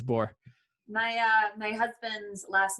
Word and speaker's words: Borr: um but no it yes it's bore my uh my husband's last name is nook and it's n-o-c-k and people pronounce it like knock knock yeah that's what